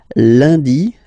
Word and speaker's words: lundi: Lundi, lundi. Okay, remember, UN is pronounced like un.